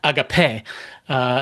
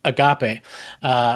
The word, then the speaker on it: agape: And now that's how C.S. Lewis pronounces it, agape. So Greg, and I think most people pronounce it agape, which I like the little nod to C.S. Lewis, agape.